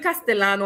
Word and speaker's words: castellano: Um, so yes, Shano, it's not even Castellano or whatever. Castano, it's cast because double L and Y in Spanish is automatically pronounced as sh, right?